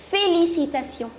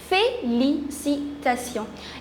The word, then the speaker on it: félicitations: So for that, the word is félicitations. Let's just break the word and pronounce it. Fé, L-I is li, C-I is si, T-A is ta, T-I-O-N is sion. Félicitations. Félicitations.